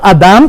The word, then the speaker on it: Adam: En hebreo Adán, pronunciado Adam con M, significa el suelo o la tierra o el terráqueo, del cual Adán fue creado, pronunciado Adama.